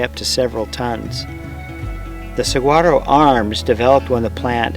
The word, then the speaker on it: saguaro: The saguaro, pronounced saguaro, is the iconic cactus and a keystone species of the Sonoran Desert.